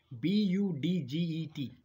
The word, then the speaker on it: budget: last word is budget b-u-d-g-e-t now d is silent out here do not pronounce it